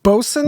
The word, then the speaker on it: boatswain: That word is pronounced bosun? Bosun. Even though there's all sorts of extra letters in there.